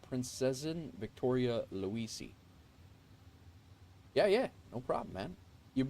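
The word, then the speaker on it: Prinzessin Victoria Luise: Alantha says the plane I'm flying is named the Princesian Victoria Luis, pronounced Princesin Victoria Luisi.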